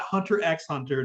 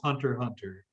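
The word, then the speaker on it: Hunter × Hunter: that way you know it's not hunter x hunter just hunter hunter yes i still get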